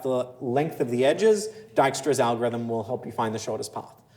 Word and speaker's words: Dijkstra: Dijkstra. Oh, is that how you say it? Yeah. Dijkstra, which is, so it is not on you for failing to pronounce that at all.